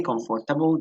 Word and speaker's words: comfortable: Ok, si usted me dice comfortable, yo le entiendo, ¿sí? Ya sé que se está refiriendo a esta palabra, pero esta palabra tiene un fonema específico. Comfortable. Comfortable. Es como lo pronunciaríamos, ¿no?